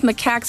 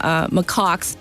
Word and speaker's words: macaque: So you heard that clip, right, about the rhesus macaques, or I call them macaques. Both pronunciations are correct, by the way.